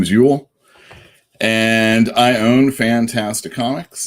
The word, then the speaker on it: Uel: on the west coast and my name is ewell there you go that's how i spell it my name is ewell and i own fantastic comics it's a comic